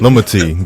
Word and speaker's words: Lomotey: I am here today with the one and only Lamati. Is that is that how I pronounce it? Lumi. Lumati.